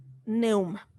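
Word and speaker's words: πνεῦμα: rúa y del griego neuman espíritu en hebreo se pronuncia rúa y en griego se pronuncia pneuma entonces vamos a hablar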